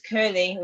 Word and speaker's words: Kirlew: in the chat, but it's Kirlew with the Kirly, in case people might spell it CU.